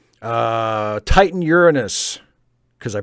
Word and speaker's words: Uranus: Titan Uranus, because I pronounced the name of the planet correctly. Titan Uranus.